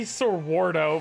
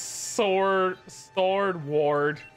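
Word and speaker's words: Sordward: Yeah, we say Sorwardo, but it's Sword Ward.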